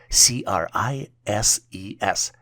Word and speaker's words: crises: The plural version for crisis is spelled as CRISES and is pronounced as crises.